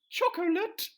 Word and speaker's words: chocolate: Choc-o-late biscuits. That's not how mills work, as Professor Yaffle points out. I just love that they say chocolate biscuits with 3 syllables.